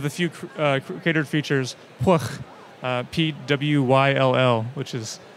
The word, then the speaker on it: Pwyll: And just above one of the few cratered features, Pwyll, P-W-Y-L-L, which is pronounced Pwyll.